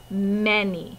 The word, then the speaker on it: many: And the last word will be many. Remember, it looks like the word man with E and rainy, many. Even though it sounds like an E, we spell it with an A.